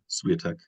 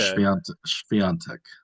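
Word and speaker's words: Świątek: But I guess um, one of the accent marks Oh gives yeah. an N sound. So Okay. Swiatek.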